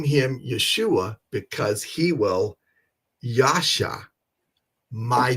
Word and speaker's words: Yeshua: You can clearly see that it says, and you shall call his name Yeshua, for he will, Yoshia, or some people pronounce it a little bit different.